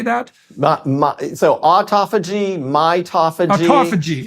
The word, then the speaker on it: mitophagy: So autophagy, mitophagy.